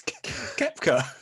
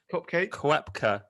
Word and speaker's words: Koepka: It's Koepka. we actually get shredded for some pronunciation. Koepka? Brooks Cupcake.